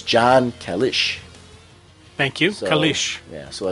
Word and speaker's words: Kalisz: It's pronounced Kalisz. I know that because of one of the people I work with, her last name is the same, and that's how she said it's pronounced.